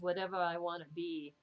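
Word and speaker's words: Watevra Wa'Nabi: I didn't realize it was whatever I want to be is kind of how it, and let me see, let me show you the cover.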